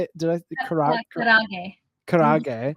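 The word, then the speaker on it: karaage: Did I Karage. karage? Roll the R, kind of karage.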